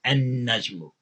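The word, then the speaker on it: النجم: Because noon is a sun letter, you don't pronounce the L or the lam. You double the sound of noon and you say an-najmu, an-najmu, because that's how sun letters are handled. You don't say al.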